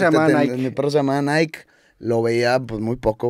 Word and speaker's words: Nike: lo que acabamos enfatizando Nike su sílaba tónica es la primera Nike Debería ser la segunda